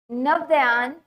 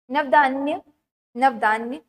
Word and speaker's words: Navdanya: For instance, farmer and citizens group like the Beach Bachao Andolan in Tehri and Navdayan, sorry, गलत pronounce कर रही हूँ, Navdanya have shown that it is possible and economically